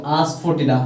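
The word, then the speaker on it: asafoetida: तो आस्फोटिडा, देखो आस्फोटिडा, ये देखो, ई इसमें आस्फोटिडा नहीं पढ़ेंगे, ठीक है। इस ई साइलेंट रहता है।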